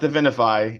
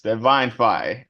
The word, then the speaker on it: Divinfi: It's not Divinify, it's Divinfi. Okay.